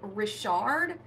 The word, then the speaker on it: Richard: please yes he was he played rishard I think spelled like Richard but they called it rishard um and he was